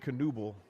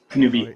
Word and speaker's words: Kenobi: Today, I am joined by the Dystopunks, Obi-Wan Kenobi, or is it Kenoble? Kenobi. Oh, he left. I read his name wrong.